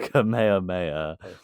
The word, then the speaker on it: Kamehameha: Uh it's technically pronounced Kamehameha.